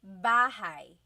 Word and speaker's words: bahay: You might notice that the spelling is A-Y at the end, so it looks like bahay, but it's pronounced bahay. That A-Y combination is bahay.